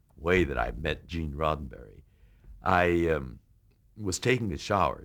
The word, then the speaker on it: Roddenberry: i'm george takei here to meet uh mr rosenberry and you know you're nervous enough as you